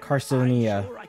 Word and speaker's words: Carcinia: Carcinia. That's how you say it.